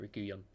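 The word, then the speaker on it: Reguilón: What do I say? Reguilon. That's how you say it, Reguilon.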